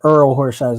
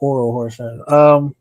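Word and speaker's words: Orel Hershiser: I said Earl Horshizer, not Oral Horshizer.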